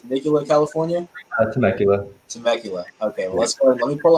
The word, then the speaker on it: Temecula: right cool now you are from i'll be pronouncing right temecula it's nicola california temecula temecula okay let me pull up my notes